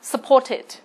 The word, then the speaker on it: supported: Và D là supported. Vậy thì với D là supported, chúng ta sẽ đọc là it. Và khác với những từ còn lại, đọc là t.